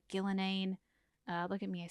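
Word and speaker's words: Ghilan'nain: This one looks like Gillenane.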